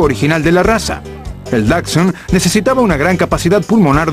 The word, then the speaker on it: Dachshund: Pero la pronunciación tradicional es Dachshund.